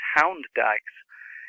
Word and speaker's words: Hund Dykes: they were referring to, and it's Hound Dykes. It's spelt the same.